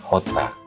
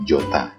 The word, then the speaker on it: jota: Huruf J ini mereka sebut dengan hota, tapi tulisannya dengan J, jota gitu ya. Nah, cara bacanya seperti huruf H yang diberikan tekanan.